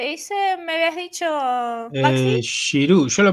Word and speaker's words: Giroud: Yo tuve Y 3 clases de francés, así que sé que la D ah, no se pronuncia, la D final no se pronuncia y la G es como una Y, así que claro.